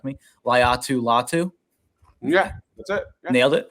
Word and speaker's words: Latu: to say this name Dives can correct me latu latu yeah that's it nailed it all right cool